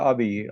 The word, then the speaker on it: Abiy: I hope I am pronouncing the word correctly. Is it Abiy? Yeah, Abiy, Okay.